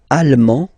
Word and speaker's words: allemand: L'Allemagne, allemand, allemande. Okay, same thing here. En, okay, you don't pronounce the final D, but then you pronounce it here for the feminine form.